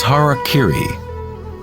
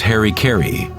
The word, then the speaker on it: harakiri: In the samurai tradition, one form of ritual suicide, or seppuku, was harakiri, was often mispronounced as harikiri.